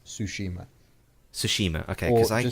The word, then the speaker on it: Tsushima: a flute and then we'll show girls of Toshima okay I'm like I'm gonna protect us in